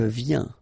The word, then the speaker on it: viens: Je viens Final S not pronounced, okay? And when you combine this IEN, you get this yen, yen. Je viens, all right?